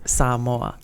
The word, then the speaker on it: Samoa: It's you gotta elongate the A a little bit. Samoa. It's Samoa.